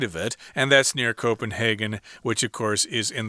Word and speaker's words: Copenhagen: I wanted to mention sometimes this city, Copenhagen, is pronounced Copenhagen. You can do either one, but it's in Denmark.